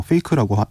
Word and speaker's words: PHEIC: 이 국제적 비상사태는 그 국제공중보건 위기 상황 이 PHEIC 뭐 페이크라고 그 발음하는데요.